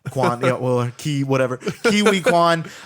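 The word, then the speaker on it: Ke Huy Quan: I mispronounced this uh kiwi Quan I think kiwi Kuan I think is how you pronounce itan Quan yeah well KY whatever kiwi Kuan W it and we did call this I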